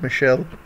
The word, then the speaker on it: Michel: I know it's you spell it as Michael, but you know, they call it Michelle.